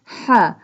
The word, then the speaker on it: ح: اے vessel sound. سبحان ہا ہا حلق کے درمیان والے حصے سے ادا ہوتا ہے۔ ہا pronounced from the middle part of the throat۔ والحمد للہ للہ۔ This